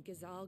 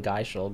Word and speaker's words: Ghazal: I've been saying it wrong the whole time. I've always called them Geishal greens.